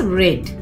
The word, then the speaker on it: read: the machine so children the past participle form of read is red though it is spelled same you have to pronounce it as red okay i hope you